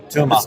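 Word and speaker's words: Tuama: That was Nadia, and also a guy called Padrego Toma, who I heard... he's... Is that how you pronounce it, or are we murdering some Irish pronunciation? Probably murdering a bit. Tuma. No, it's not a tumor.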